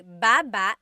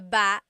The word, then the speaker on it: baba: So depending on how you're saying it, it could be baba, chin, baba. Emphasis is on the first syllable, baba. Then there's baba ba babba. Emphasis is on the second syllable syllable that means to go down.